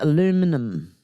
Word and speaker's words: aluminum: So, you call it aluminum. Maybe it's spelled differently.